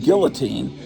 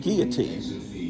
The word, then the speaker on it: guillotine: I used to pronounce it guillotine, and then someone told me I should pronounce it guillotine. Now I feel like I should go back to guillotine.